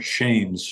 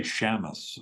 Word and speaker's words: Shames: name perfect okay um I wanted to almost say Shamus like a western us kind of feel to it I could